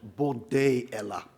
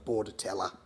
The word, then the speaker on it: Bordetella: In French the t is silent. Bordeella. However, in Latin and in microbiology, it's sounded so borella.